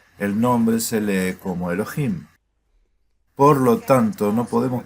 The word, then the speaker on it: YHWH: Ahora recuerda, porque Yud He Waw He está escrito aquí junto a Adonai, se pronuncia por tradición como Elohim.